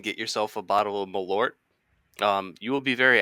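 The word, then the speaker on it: Malört: yourself a bottle of malort um you will be very angry with me sounds sounds like it tastes like Jagger Meister but grosser shockingly good guess the name the name rhymes with wart and it's a it's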